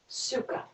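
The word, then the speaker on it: Sukha: our theme is a sanskrit word suka s-u-h-k-a sukkah the first syllable su means good and the second syllable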